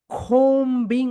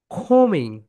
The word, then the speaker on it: combing: সো আমরা সবাই বলি যেটা, সেটা হচ্ছে combing operation. That is wrong, right pronunciation is খোমিং, খোমিং, খোমিং operation.